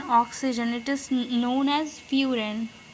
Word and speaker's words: furan: When there is an oxygen, it is known as furan. The spelling is Furan. We pronounce it as furon.